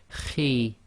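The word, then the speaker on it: خِ: got a note here, heavy letter but not completely full mouth. So the pronunciation of this is Khi, Khi. So it's not a complete smile, and at the same time it's not a full mouth, i.e. not a complete round mouth.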